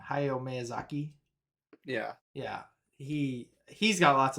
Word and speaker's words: Hayao Miyazaki: Hayao Miyazaki.